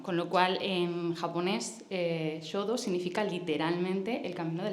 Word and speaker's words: Shodō: en la parte superior, se pronuncia sho y significa escritura, y el inferior se pronuncia do y significa camino, con lo cual en japonés shodo significa literalmente el camino de la escritura.